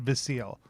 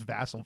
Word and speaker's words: Vassal: If you had told me when I was reading it whether it was Vassal or Vasile. I would have said Vasile. When I went to go look up the pronunciation of it, it is Vassal. Vassal is how that word is. That name is pronounced.